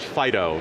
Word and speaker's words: FD.io: Absolutely, so one of the things I'm deeply involved in right now is a project called FDIO, usually pronounced Fido, because it's cute.